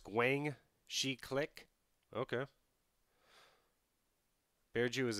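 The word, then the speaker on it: Guangxi: that's what i would like to do it's pronounced guang shi click okay bear jew is a spy i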